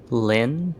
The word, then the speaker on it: Lynn: should have brought um Lane with me or lay Ellie Lane how do you say your name Lynn Lynn thank you I don't know why